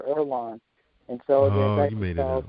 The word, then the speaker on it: Erlonan: And you said the book is pronounced the Erlonan.